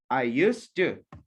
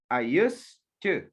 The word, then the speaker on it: used to: No, you say it fast. You say it together, okay? Because this is T, and this is T. They sound like this. I used to. I used to.